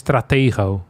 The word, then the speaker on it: Stratego: Stratigo. Stratiggo. In Dutch is stratego. So, I tried to copy that with an American accent.